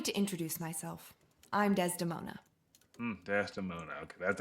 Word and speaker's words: Desdemona: Desdemona.